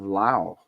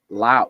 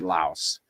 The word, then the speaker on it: Laos: So this is in the country of Lao. Lao. Well, they don't pronounce the S. Westerners pronounce it Laos, but but in Lao, they don't pronounce it with the S.